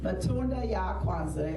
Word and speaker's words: matunda ya kwanza: of the harvest and in the swahili pronunciation is matunda ya kwanda matunda ya kwanza means first fruits fruits of